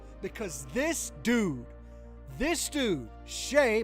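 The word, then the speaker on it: Shai: this dude this dude Shay by the by the way that's how you say it Shay gilgas Alexander is a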